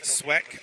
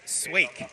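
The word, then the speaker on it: Sweeck: Sweck just right behind him. Excuse me, I was actually corrected. It's Sweik is actually how that's pronounced.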